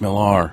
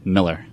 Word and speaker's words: Millar: just Miller mmm it's Miller no it's no it's Miller dude I live on the lore I know it is pronounced Miller it Sam I know